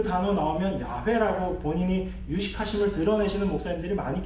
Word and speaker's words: 야훼: 그런데 더 철저하게 이 두 자음과 모음을 합쳐서 제대로 발음을 하면 여호와가 아니고 야훼예요. 야훼가 되는 겁니다.